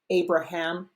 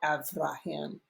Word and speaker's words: Abraham: Negev can be pronounced Negev or Negeb, just like Abraham can be pronounced Abraham or Avraham. The V and B are interchangeable.